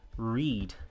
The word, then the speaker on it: read: Tem alguns, por exemplo, read, que olha que curioso. Read, read, read. Apesar da escrita ser igual, a pronúncia é que vai mudar.